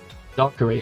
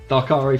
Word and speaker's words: Darkari: I've been pronouncing it wrong this entire time, and you didn't tell me. I don't know whose fault that is. Probably mine for not asking, because I've made a point of asking you anyone else who joins the channel. But Darkari from now on, I'll remember that.